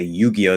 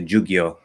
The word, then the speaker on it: Yu-Gi-Oh: And a lot of kids, when I was in middle school, they wouldn't say Yu-Gi-Oh, they say Ju-Gi-Oh.